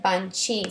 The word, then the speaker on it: banchi: However, if I write it like that, I pronounce it banchi. So to maintain the sound, the K sound, I'll need an H there.